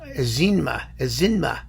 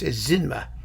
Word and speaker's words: Ezinma: oh i'm sorry it's ezinma zinma it's not eczema it's zinma i'm i'm sorry i